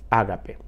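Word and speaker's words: ἀγάπη: el amor ágape que en el original griego se pronuncia a sí mismo ágape y vamos a ver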